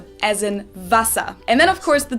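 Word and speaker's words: Wasser: at all but instead we pronounce the w like the english v so we say as in vasa and then of course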